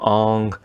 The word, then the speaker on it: Aang: In the movie, he wanted the actual Asian pronunciation of it. Aang has now become Ong.